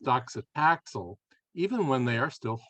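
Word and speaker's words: docetaxel: chemo and and I I believe that's pronounced doxitaxel even when they are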